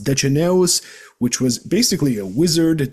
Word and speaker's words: Deceneus: It is a reference to Dicenius, or pronounced Deceneus, which was basically a wizard during the Trajan Wars in Dacia.